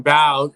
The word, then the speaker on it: Bau: bow oh bao why am i calling me bomb it's bao bao because some people because some people pronounce b.a.u bow but my last name's